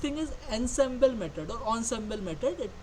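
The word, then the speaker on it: ensemble: is emble Method or onsemble method it is pronounced as onsemble method okay so what does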